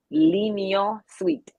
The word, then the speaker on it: L'Union Suite: Just remember, lean on sweet, L'Union Suite.